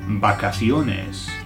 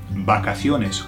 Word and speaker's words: vacaciones: Now, this is nice and easy to remember, but it's a little bit tricky for pronunciation, okay? So, holidays is vacaciones. Okay, vacaciones, or, for those without the accent, vacaciones, vacaciones.